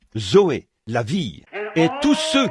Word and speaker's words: Zoé: Et en grec, pour dire la vie de Dieu ou la vie éternelle, on se sert du même mot que l'on prononce, Zoé. Z O E. Zoé, la vie.